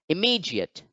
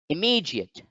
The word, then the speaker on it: immediate: as equality equality equality next let's look at the word immediate immediate immediate so if you look at the international phonetic alphabet for the word immediate you find that the stress mark or the apostrophe lies over the second syllable so therefore again the second syllable is the one which gets stressed the word is now pronounced immediate immediate immediate again note that